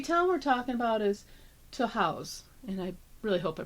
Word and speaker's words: Tahawus: tah house tah house if you look at it you might think it's called tow house but it's toah House New York and that actually is